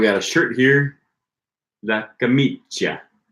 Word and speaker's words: camicia: Okay, Jorge says in some parts of Italy they pronounce the ch sound more like a sh, but camicia should be camicia.